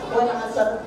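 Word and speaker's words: العصر: Sholat apa? Asar. Ditekan. Asar. Wal asar. Walayalin asar. Betul nggak? Salah. Siti bacanya gitu. Ya, betul. Siti bacanya gitu nggak?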